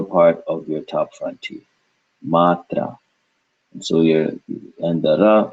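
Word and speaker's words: मात्रा: the conjunct like we've been doing so first syllable would be mat and then last would be ra mat ra Matra put it together Matra Matra Matra Matra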